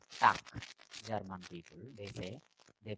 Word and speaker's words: Tag: Tak. No, they don't say tag. Tak. German people, they pronounce tak. Tak. Ko sound. Ending G is ko sound.